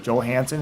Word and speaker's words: Johansson: There's a movie called The Island with Scarlett Johansson or Scarlett Johansson if you like to pronounce the J.